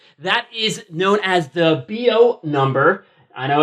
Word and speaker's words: Biot: what is that that is known as the bo number i know it's spelled sort of weird b-i-o-t what what in the world does that mean uh you do not pronounce it biat it's known as the bio number but in